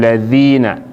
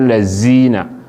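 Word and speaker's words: الذين: Sometimes people they pronounce dhal and zai as not the same thing. Man go read and say innal lazina. If you say lazina, you don't change the letter for there, and this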